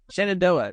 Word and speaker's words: Shenandoah: Shenandoah? Shenandoah.